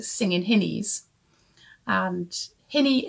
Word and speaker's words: hinny: called singing hinnies and hinny is a local pronunciation of the term of endearment honey and they're called singing